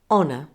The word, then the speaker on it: honor: let me give you a list of exceptions where the H is silent in words there aren't many in British English listen and copy me honor honest our air now